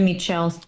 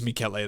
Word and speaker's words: Michele: Yeah, I think you said Michelle, but it's Michelle.